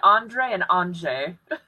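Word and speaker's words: Andrzej: all right anyway well it's a mix between Andre and anj so huh um anyway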